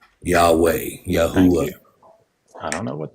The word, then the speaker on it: Yahweh: man of the Dust please don't pronounce it yahovah that's silly Yahweh yahwa I don't know